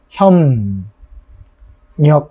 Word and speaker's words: 협력: 협력 이렇게 발음이 되는 거죠. 이것도 비읍과 리을이 와서 서로 영향을 줘가지고 비읍은 미음으로 리을은 니은으로 바뀐 경우다 이렇게 볼 수 있겠습니다.